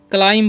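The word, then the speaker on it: climb: क्लाइम क्या पढ़ते हैं येे क्लाइम पढ़ते हैं ठीक है यानी कि यहां पर बी जो है साइलेंट होता है तो इसका आपको ध्यान रखना है क्लाइम मतलब क्या होता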